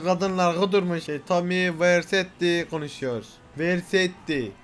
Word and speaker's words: Vercetti: Vercetti. Nasıl okunuyor? Tommy Vercetti.